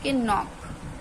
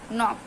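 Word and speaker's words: knock: आई F knife knife के एन ओ सी के नॉक नॉक कनक नहीं पढ़ेंगे नॉक पढ़ेंगे ठीक है ऐसे नॉलेज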